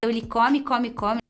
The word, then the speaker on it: come: Come Ele come. and comem. É fruto que eles comem muito. So here, the pronunciation changes from a closed O to an open O, which is like the A in awesome.